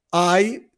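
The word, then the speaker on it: 愛: i questo qua incontrare incontrare poi c'è amore ai si pronuncia II e basta ed è amore e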